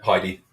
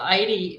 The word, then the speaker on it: Heidi: bit harder for ID Heidi idy idy see what I did there I get called idy in Portugal because that's howly say my name here because they don't never